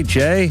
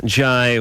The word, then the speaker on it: Jai: Michael Jai. How do you pronounce that? Jai? Jay? You got it, Jai.